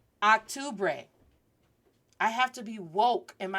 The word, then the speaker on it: octubre: I know it's u, not octubre. And it's not ooh. Octubre. Repeat after me. Octubre. Octubre. That is how you pronounce October.